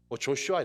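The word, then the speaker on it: Joshua: 성경을 이렇게 해야 합니다 여호수아는 보통 우리는 여호수아 라고 하지만 또 영어발음 어떻게 합니까 조슈아 이렇게 하지 예수 약 2조 시와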